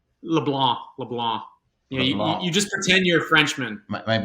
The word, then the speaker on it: LeBlanc: Atticus uh you know the Cajuns don't pronounce the C but most other people do so it's just fine Toby so it's pronounced LeBlanc LeBlanc LeBlanc you just pretend